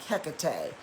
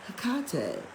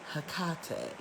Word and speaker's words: Hecate: to inform you but the greek scholars pronounce it hakate and i've had this